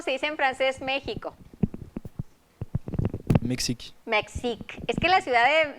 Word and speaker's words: Mexique: Mexique.